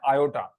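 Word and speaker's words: iota: इसका प्रोनाउंसिएशन क्या होता है? आयोटा. ठीक है, आयोटा।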